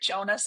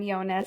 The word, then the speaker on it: Jonas: I say I still say Jonas in my head, but like correct pronunciation is Yonas.